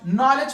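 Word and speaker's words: knowledge: बाद हमारे पास नॉलेज नॉलेज में डी भी साइलेंट है ये नॉलेज की नहीं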